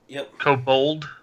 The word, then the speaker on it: kobold: kobold taupe cobalt cobalt how the how's that pronounced Oh cold kobold kobold I don't see any kobolds on the